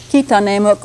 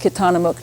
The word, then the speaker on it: Kitanemuk: This California language is called Kitanemuk, or sometimes it's pronounced Kitanamuk to make it sound more English-like.